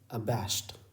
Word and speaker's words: abashed: और ध्यान रखिएगा, ये ड नहीं है, बल्कि ये ट है। इसे अबैश्ड नहीं पढ़ते हैं यहाँ पर। इस डी लेटर के लिए उच्चारण यहाँ पर ड नहीं होता है, बल्कि ट होता है।